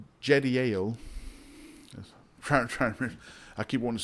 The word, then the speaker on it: Jediel: The sons of Benjamin, Bela and Becher, And Jediel, I'm sorry, I think it's a, yeah, it's Jediel.